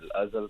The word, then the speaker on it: Azal: It It rhymes with the word puzzle. Azle.